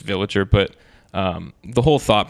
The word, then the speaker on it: Viligir: an interesting artist title people you know mispronounce it but it's it's just villager but um the whole